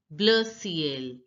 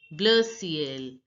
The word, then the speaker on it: bleu ciel: Sky blue is pronounced as bleu ciel, bleu ciel.